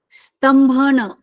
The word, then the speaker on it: स्तंभन: अतिक्रमण कर रहा है उसको रोकने के लिए, स्तंभन, इंद्र का शब्द है ये, स्तंभन, स्तंभन।